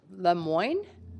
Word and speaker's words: Lemoine: then parmendra Gill the Lemoine thank you councilor guys very rare to hear my name pronounced correctly in Vancouver so thank you but I do go by lemoy in Vancouver uh good evening counselors